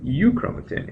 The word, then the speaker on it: euchromatin: When it's loosely associated, it's called euchromatin, and you can remember this with the mnemonic heterochromatin is highly condensed, and euchromatin, eu rhyming with true, truly transcribed.